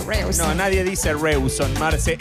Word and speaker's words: Rawson: Es Rawson, la capital de Chubut. Rawson. Marce. Creo que se pronuncia Rawson.